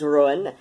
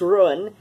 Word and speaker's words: Ruadhán: have happened upon hello my name is Rowan yes that is pronounced ruin I see a little bit of Irish Gaelic and and I have